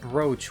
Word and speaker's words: brooch: There's a Lilith and a laurel brooch. I know why it's pronounced brooch when it doesn't have an A in it.